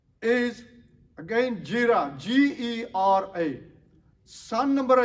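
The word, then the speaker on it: Gera: Son number 2, Jira. That's G-E-R-A. Son number 3, Abihud. Spelled A-B-I-H-U-D. Abihud. Son number 4, Abishua. That's spelled A-B-I-S-H-U-A.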